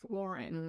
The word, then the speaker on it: Lauren: I'm not here to like dictate how people say their names, but like it is Ralph Lauren. That's one thing. Because Lauren would have been spelled like Loren.